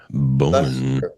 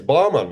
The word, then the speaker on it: Boman: I think it's Bowman. It's Bman. You know, Bman. Awesome. Bman. Am I pronouncing that right or now? I'm self-conscious about it. Completely incorrect, but it sounds perfect.